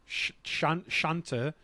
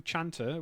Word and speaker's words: chanter: The front one is there's a French chanter to sing, so it's spelled chanter, but the French do sh, which is why the cat sounds like shat, which is fucking hilarious.